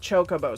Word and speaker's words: Chocobo: jedo instead of Gedo I have somebody argue with me that it was pronounced Cookoo and not chocoo so yeah I'm going to pronounce it however I want and the correct way is Chocobo bite me